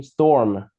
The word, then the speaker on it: storm: Storm. Storm. Storm. Storm. Where's the storm? Storm. Storm. Storm. Okay, storm. No. Sao nghe em phát âm nó giống như là Tom mà không nghe thấy âm sờ mấy.